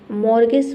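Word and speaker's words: mortgage: सब में देखिए टी साइलेंट है। गोरमे का मतलब होता है स्वादिष्ट भोजन का हम बोलते हैं गोरमे। मोर्गेज।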